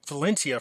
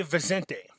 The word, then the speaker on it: Vicente: So a shout out to Commander Jose, I believe it's pronounced Vicente. I kept saying Valencia for some reason. So it's Vicente. So Jose Vicente.